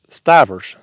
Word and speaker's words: Stivers: He says it's pronounced S-T Stivers.